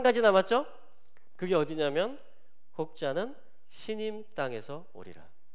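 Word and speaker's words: סִינִים: 시님이 된 겁니다. 시님. 차이나의 히브리식 발음이 뭐냐면 신이에요.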